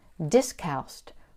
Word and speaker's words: Discalced: Discalced, pronounced with the second c soft like s, is Latin for “without shoes .”